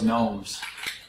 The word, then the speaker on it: GNOME: Don't like those gnomes. Lousy gnomes. If you're wondering what desktop environment we're using here, we're running GNOME. GNOME Shell. Yes, it's actually pronounced gnome. No. Although many people don't pronounce it.